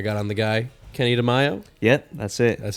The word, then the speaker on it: Damaio: doing today i got on the guy kenny demaio yep that's it that's how you pronounce it right yeah it's actually a portuguese